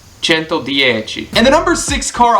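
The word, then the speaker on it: Cento Dieci: is I've got to remember how to pronounce this sento dii sento chento dii and the number six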